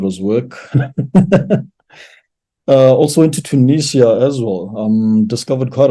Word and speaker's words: Tunis: work uh also into Tunisia as well um discovered quite a bit so yeah I drove between two cities so capitalist Tunis or two news by how they pronounce it and then drove to